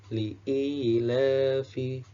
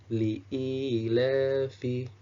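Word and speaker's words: لِإِيلَافِ: Nah, ini dibaca li'ilafi, li'ilafi, sama 2 harokat.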